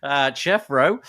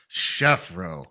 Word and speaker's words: Chefro: It's not Jeffro. It's Chefro. Chefro. Yeah, thanks. I got to shout out to Tom Finley for coming up with that. Say it right. Beautiful wordplay. It has a CH at the beginning.